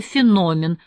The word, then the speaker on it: феномен: молнингстар и не боялся произнести слово феномен с ударением на втором слоге синявского и Даниэля По